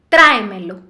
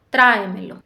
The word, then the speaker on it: tráemelo: Otro ejemplo, tráemelo. Y la mayor fuerza de voz es en tra, tráemelo.